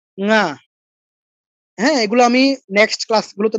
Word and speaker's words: ঙ: উঁ, বাংলায় বলি উঁ, উঁ নয়, ঙা।